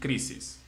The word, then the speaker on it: crisis: And the last one, crisis. Crisis. Because it ends in S.